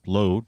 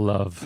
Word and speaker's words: Löw: You're talking about a proven international coach, and that's the former Germany manager, Jogi Löw, or Low, depending how you want to pronounce it. Löw. For Americans' sake, he'd be called Love.